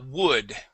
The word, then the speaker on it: would: Now, with the word, uh we do not pronounce the L. You had said would. Okay. That L is sil silent. And the and the uh u sound is not an uh it's an uh.